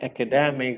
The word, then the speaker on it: academic: For example, when you say academic, if we learn it like academic, we will not mispronounce it any further.